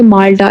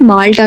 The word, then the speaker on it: माल्टा: और मैंने word pronounce किया माल्टा, इट्स नॉट माल्टा, not orange, माल्टा जो है वो कंट्री का नाम है।